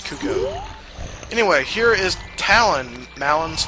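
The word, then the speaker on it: Cucco: chickens in this game they're actually called cucko not cucko not uh uh you know Cocos it's cucko anyway here is Talon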